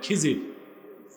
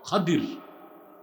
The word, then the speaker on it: খাদির: আপনারা ভুল বলেন খিজির, উচ্চারণটা হচ্ছে বিফাতহিল খা ওয়া কাসরিদ দাদ, খাদির। আমরা বলি খিজির।